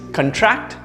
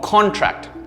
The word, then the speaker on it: contract: The next word you probably know is contract or contract. They have two different meanings based on the pronunciation there.